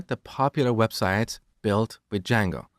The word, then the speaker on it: Django: popular framework called D Jango so it's spelled with a silent D and it's pronounced Jango it's a web framework